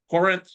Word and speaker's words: Corinth: And there's a couple of terms I would like for our future viewers on YouTube to know correct pronunciation is Corinth, Mississippi, and Iuka, Mississippi.